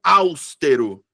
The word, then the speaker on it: austero: Tem uma galera que pronuncia austero. Austero. Eu fico... Hã? Que? Como assim? Então, sílaba tônica é a penúltima sílaba, então é paroxítona.